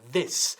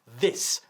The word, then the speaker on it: this: Sacando la lengua. This. Y con una I latina muy, muy corta. This. Not these, sino this.